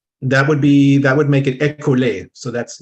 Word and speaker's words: École: I'm gonna spell it for you because I'm gonna mispronounce it. ECOLE. École.